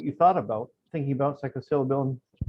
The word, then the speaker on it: psilocybin: And exactly what you thought about, thinking about psilocybin. How do you pronounce it? Psilocybin.